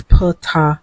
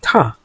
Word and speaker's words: Ptah: In this next clip, you can hear him pronouncing his name both ways, Ptah and Ta.